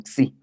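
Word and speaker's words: ξ: Sí, tú lo pronuncias como xi, pero es una X.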